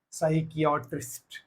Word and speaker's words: psychiatrist: is pronounced as psychology next psychiatrist same PS p so now p is silent p is silent psychiatrist next psychic again the